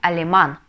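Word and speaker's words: alemán: Ну например возьмем национальность Немец немец по-испански будет алеман да алеман По идее заканчивается слово на энны значит мы должны ставить ударение на предпоследний слог Да голосом а Леман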